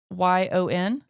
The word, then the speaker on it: couillon: We're going to have to figure out how to spell it. But Couillon? Jonah's got it. Couyon.